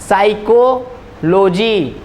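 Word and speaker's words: psychology: का व्यक्ति अब देखिएगा ये तो पी साइलेंट होता है ना साइक्लॉजी तो लो जी मतलब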